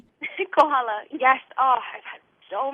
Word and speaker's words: Kohala: Koala, Hawaii. Kohala.